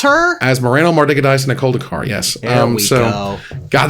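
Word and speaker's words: Asmoranomardicadaistinaculdacar: Last year's winner was Asmarano Mardikadice Koldakar. Did you forget how to pronounce her? Asmarano Mardikadice Koldakar, yes.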